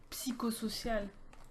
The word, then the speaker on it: Psychosocial: to mind apart from psychosocial? Psychosocial, sorry. Psychosocial, as some would say in French, because we pronounce the fucking P.